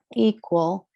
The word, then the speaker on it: equal: So for example, we have equal, the stress and the is on the first syllable. It's long vowel, open syllable. So equal.